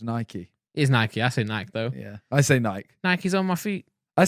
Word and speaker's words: Nike: Nike. It's Nike. It is Nike. I say Nike though. Yeah. I say Nike. Nike's on my feet. I say Nike, but it is Nike.